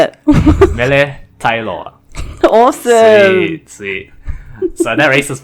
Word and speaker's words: Mele Taeiloa: Mele Taeiloa.